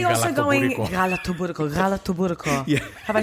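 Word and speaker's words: galaktoboureko: Galatoburiko.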